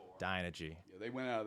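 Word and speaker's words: Dynegy: Is that pronounced correctly? Dynergy.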